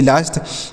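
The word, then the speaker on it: last: यल ए एस टी, यल से लो, ए के बाद एस टी है तो इसका उच्चारण आ की मात्रा, एस से आधा शो, टी से टो, यह लास्ट हो गया। एल ए एस टी लास्ट, एफ ए एस टी फास्ट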